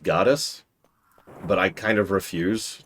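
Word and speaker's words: Gades: His name is pronounced Goddess, but I kind of refuse to say that.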